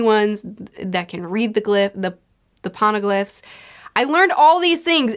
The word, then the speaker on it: Poneglyphs: Poneglyphs?